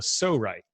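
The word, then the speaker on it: Pso-Rite: want to say and it's called a so right so it's spelled PSO our ites so right so Cerreta is this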